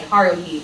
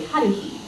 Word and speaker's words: Haruhi: Like we might say haruhi, but it's really haruhi, and things like that.